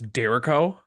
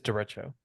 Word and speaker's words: derecho: did you just try to pronounce Derico? It's derecho. It's Derico.